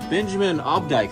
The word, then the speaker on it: Benjamin Obdyke: Yeah, so hey, this is from Benjamin Obdyke.